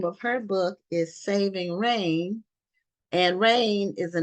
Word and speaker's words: Raine: and the name of her book is saving rain and rain is a name and it's spelled r a i n e so Maran